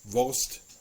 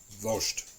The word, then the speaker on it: Wurst: I know that the proper way is Wurst, but I'm used to people saying Wurst.